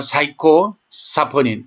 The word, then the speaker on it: 사이코사포닌: 그거는 일본 사람들이 시호를 사이코라고 읽어요. 그래서 아마 일본인이 연구를 통해서 이름을 붙였을 겁니다. 그러니까 사이코사포닌, 즉 우리말로 하면 시호사포닌.